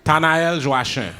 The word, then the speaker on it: Tanael Joachim: Tanael Joachim. That's how you say my name.